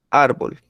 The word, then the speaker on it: árbol: Árbol. Si ustedes ven, ¿dónde tiene el acento? ¿En qué sílaba? En la- Ar, En ar, ¿cierto? Entonces es grave.